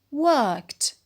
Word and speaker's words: worked: In the past, it is worked. Worked. And it has only one syllable, and the ed is pronounced to.